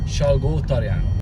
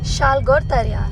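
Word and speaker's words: Salgótarján: And how to pronounce the name? Salgotarjan. Salgotarjan.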